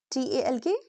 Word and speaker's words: talk: Silent L usually comes after A, O, U. When L comes after these vowels, very often we don't pronounce it clearly.